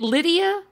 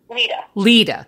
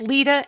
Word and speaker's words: Lita: Brookes daughter Eric and is it Lydia is that how you pronounce her name Lita okay it's Lita and Eric is the